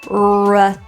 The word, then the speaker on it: return: times return return also the stress of this word is in turn return so that is why the re sounds like instead of re re typically the vowels in unstressed syllables kind of get reduced to a schwa or an uh sound so re turns to ra remember rewind return let's